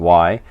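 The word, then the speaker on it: Whie: W-H-I-E, we or Y, I pronounce it Y.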